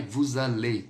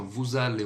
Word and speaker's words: vous allez: aller, aí você vai, vous allez. Eu vou ligar o S com o verbo, porque ele inicia por vogal. Então fica assim, ó, vous allez, um som de Z.